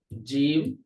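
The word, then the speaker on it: ج: ওয়াসাতুল লিসান, জিহ্বার মধ্যখান, এই পুরোটা তো মনে করেন জিহ্বার মধ্যখান, কিন্তু মধ্যখানের শুরু ভাগ থেকে উচ্চারিত হবে জিম, বরাবর মধ্যখান থেকে শিন, আর মধ্যখানের শেষ ভাগ থেকে উচ্চারিত হবে ইয়া।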